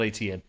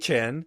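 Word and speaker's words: Etienne: Uh, the the correct way to say to say Travis's name, we found out from Travis, is actually HN. What? Hen. Hen.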